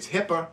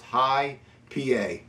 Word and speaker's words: HI P A: if you look at it you might say hipper cuz we're so used to hearing that and all the news and everything we're talking about medical but it's actually pronounced High PA obviously it's an IPA uh Magic Hat is